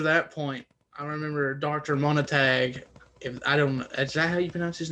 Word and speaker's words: Montague: herself and after that point i remember dr mona tag if i don't know is that how you pronounce his name one of you montague yeah dr montague sent her away and she